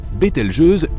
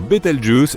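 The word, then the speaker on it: Betelgeuse: Quant à la manière de prononcer correctement Betel Je, tu peux le faire comme bon te semble. Tu peux même dire Betel Juice si tu en as envie.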